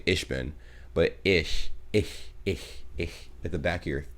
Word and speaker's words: ich: like ich bin bro where do you see a k i mean i could see you saying ish you know because you know the pronunciation of the ch is you know it can be a little bit funky but i know isn't it like ish oh oh my god